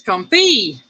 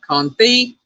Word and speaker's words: confit: LG Bass says confit. No, it's confit. No, it's confit. It's pronounced confit. Well, it looks like it says confit. That's how it's spelled. It's confit, but it's pronounced confit.